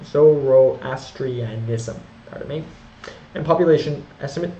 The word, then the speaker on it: Zoroastrianism: Sanskrit pardon me religion was Hinduism Buddhism and zorri ISM I always pronounce that wrong Zoroastrianism pardon me and population estimate with several to